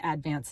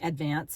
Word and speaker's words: Advance: That's how they say it, is Advance. It's not Advance, it's Advance.